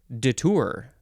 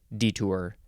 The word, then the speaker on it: detour: word is detour uh you could also pronounce it detour never heard it pronounced that way detour I say detour this is the first